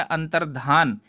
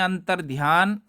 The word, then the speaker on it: अंतर्धान: हूं ठीक सब होता अंतर्धान उच्चारण भी ऐसे ही करिए अंतर्धान और हम जो कहते हैं अंतर्ध्यान वह गलत होता है अब अंतर्ध्यान उच्चारण करोगे तो ऐसे लगेगा कि शुद्ध यह गलत होता है वहीं अंतर्धान यानि